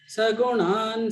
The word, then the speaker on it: सगुणान्: You don't pronounce na fully, it is half na. Sagunan samadityetan.